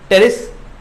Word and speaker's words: टेरिस: और है अगला एग्जाम्पल टेरिस या पिटेरिस, पी साइलेंट है भी, है ना, टेरिस।